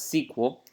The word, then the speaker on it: SQL: know the spell sequel is SQL you can pronounce this as sequel but either way it means the same thing